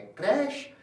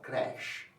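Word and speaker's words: crèche: शब्द का उच्चारण है क्रैश। शब्द में हमें मिला है एक एक्सेंट इ के ऊपर। तो इस वर्ण को जोर से बोला जाएगा। उच्चारण होगा क्रैश।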